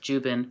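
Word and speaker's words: Dziuban: Um last name is spelled D Z I U B A N but it's pronounced Juben, Peter Jubin.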